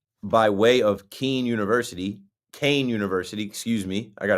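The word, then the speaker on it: Kean: Kain University.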